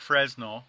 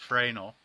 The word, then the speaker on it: Fresnel: It looks like Fresnel, but it's actually pronounced Fresnel.